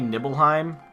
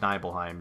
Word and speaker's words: Nibelheim: Also, it could be Nibelheim for all I know. I always said Nibelheim. It just looks like it's a long I sound, but so Mako Reactor all the way up in the Nibelheim Mountains.